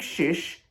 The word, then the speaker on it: Szysz: one thing that turkey does very well is shish kebabs so it's no surprise that this player's name fits perfectly with Turkish culture and I do kind of mean it Patrick Shish I had to get a pronouncer on the name because it was a